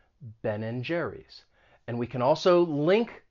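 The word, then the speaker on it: Ben & Jerry's: that sign for and ben and jerry's but nobody's going to pronounce and they're going to reduce it and just say n ben and jerry's and we can also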